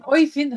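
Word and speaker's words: Øyvind: Is your name Oyvind? How do you say it, your name? You're muted. Micah, can you please answer Mirta? He's called Evin On Jelle.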